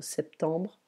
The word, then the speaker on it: septembre: If you pronounce the number 7, we don't say the P, but for September we do pronounce it. So septembre, octobre, novembre, décembre.